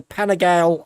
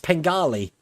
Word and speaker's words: Panigale: I understand that I was pronouncing the Ducati wrong. I was calling it the Panigale R. But I understand it's pronounced Pengali. Is that right? Pengali? Pangali? Seems to have a silent I in it.